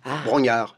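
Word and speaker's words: Brongniart: Paris par Bron Bro ça s'écrit Bron mais ça se dit Bro Brognard c'est le nom de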